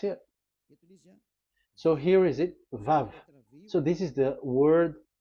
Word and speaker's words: Vav: Vav. So it's V as in Vogue.